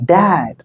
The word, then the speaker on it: dad: Okay, so this is my dad or this is my daddy. Okay, இந்த மாதிரி நீங்க சொல்லிக்கலாம். But so if you pronounce this word, just you have to open your mouth while you are pronouncing dad.